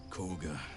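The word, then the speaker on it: Kagha: I still can't get over the fact that corg is spelled K A G H A.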